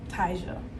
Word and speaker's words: Tyja: And I do sit them down and tell them, you know, my name is Tyja. It's pronounced Tyja, like Elijah.